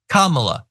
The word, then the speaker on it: Kamala: talk about someone like kamla Harris Kamala by the way you know he likes to talk about like men and strength and all that he's intentionally mispronouncing her name which is just such